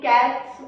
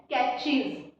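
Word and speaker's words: catches: Okay, तो ही simple हो जाएगा, ही अब बहुत सारे मेरे फ्रेंड्स इसको भी कैट्स बोलते होंगे, जैसे वॉच, कैट्स, बट इसकी करेक्ट प्रोनाउंसिएशन है कैचीज, कैचीज, नॉट कैट्स।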